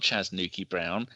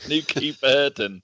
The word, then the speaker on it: Nuki Burden: It's not Chas Nuki Brown. It's just Nuki Burden.